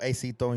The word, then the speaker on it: Acito: Aito. Acito.